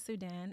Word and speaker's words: Sudxn: My name is Sudxn. It's spelled S-U-D-X-N.